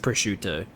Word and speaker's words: prosciutto: That's pronounced prosciutto.